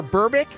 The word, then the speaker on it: Berbick: 36 years ago today, in 1986, 20-year-old Mike Tyson knocks out 33-year-old Trevor Berbick. Is that how you say his name, Greek? I think so. Berbick?